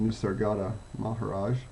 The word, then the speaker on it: Nisargadatta Maharaj: And I'm reminded of an old saying, an old question of, I believe his name's pronounced Nisargadatta Maharaj, and someone asked him, he was often known